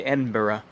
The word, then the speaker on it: Edinburgh: edginess you know when you actually went to edinburgh and i believe that's the proper way to pronounce edinburgh and you know had that one